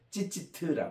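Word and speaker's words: ציצית: 그래요 그리고 요게 이제 본래는 이게 그 여성 명상이 때문에 찌찌 아트 이렇게 혹은 찌찌트 이렇게 발음을 합니다 이이 바로 어 12년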